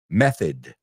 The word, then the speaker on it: method: No es method, method. It's almost like id, right?